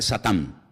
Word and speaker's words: Satán: En hebreo no se dice Satanás, se dice Satán, que significa adversario. Y después en el versículo 10 aparece la palabra diablo, que significa acusador.